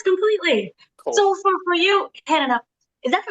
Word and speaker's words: Hannaha: So for you, Hannaha, is that pronouncing that right?